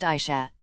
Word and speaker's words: Asha: Her name is pronounced Aisha.